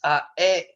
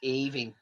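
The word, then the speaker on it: Aoibheann: It's Aobin," and you're going, "No, it's Aving or Aving down south."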